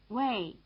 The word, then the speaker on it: Wei: Fei, Wei, Gui. Listen again, they rhyme.